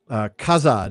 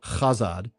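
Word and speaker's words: Khazad: After reading the appendix on the languages, the TH in Kuzdul is pronounced like a TH as two separate consonants. Same with it's an aspirate. So Kazad instead of Chazad, and Gabil Shatur instead of Gabil Shathur.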